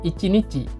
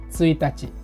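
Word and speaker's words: 一日: ini ada sedikit catatan pada dasarnya cara bacanya sama seperti tanggal hanya saja untuk suatu hari itu adalah ichinichi bukan suitachi jadi kalau mau bilang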